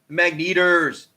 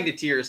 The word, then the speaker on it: Magneteers: Magneters, hey, how you doing? Thanks for joining. Oh, I'm sorry, I spelled her name wrong. Oh, I suck. I'm sorry. Magneteers, not even Magneters, Yes, it's Magneteers.